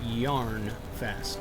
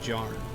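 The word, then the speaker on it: Jarnfast: for many years okay so they're pronouncing that yarn fast not jarn yarn were it not for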